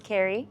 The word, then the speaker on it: Kerry: Hi, my name's Kerry. It rhymes with cherry, so you won't forget it.